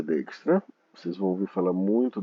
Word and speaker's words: Dijkstra: Ele é chamado também Dijkstra, perdoe-me, de duas pilhas, a pronúncia é Dijkstra.